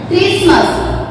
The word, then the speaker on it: Christmas: Christmas, Christmas, T silent होता है, Christmas only।